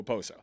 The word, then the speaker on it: Okposo: Okposo, right? Because I always hear people just go Oposo. Like the K is almost silent.